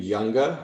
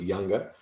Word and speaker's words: Junga: my name is younga um it's spelled j-u-n-g-a but the j is like a y so it's younger i am a board-certified